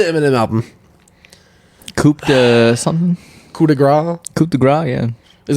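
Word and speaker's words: coup de grâce: Oh, Coupe de Grace, or do you pronounce it Gras? It's Coup de Grace.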